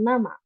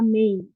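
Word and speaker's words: 名: Untuk cara bacanya ada dua, ada na sama mei.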